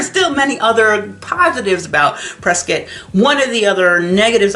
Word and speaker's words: Prescott: If you say Prescott, like I like to say, cuz that's phonetically correct, uh they could have a cow because they like you to pronounce it prescuit.